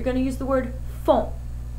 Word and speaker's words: font: Equal or make, you're going to use the word font. F-O-N-T, pronounced font.